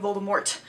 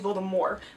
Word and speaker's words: Voldemort: 4 on the audiobooks Jim Dale start saying Voldemort with the T as opposed to Baltimore which is apparently how you're supposed to pronounce it and how he pronounced